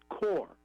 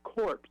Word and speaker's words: corps: or did not know how to pronounce the word core meaning the Army Corps of Engineers he kept saying corpse when he was reading